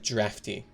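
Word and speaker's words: draught: to the definition of drafty wait is that wait is hold on is it pronounced draft wait is d-r-a-u-g-h-t pronounced draft i'll never forgive the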